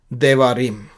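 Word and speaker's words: דברים: उसका मतलब ये है देवारिम।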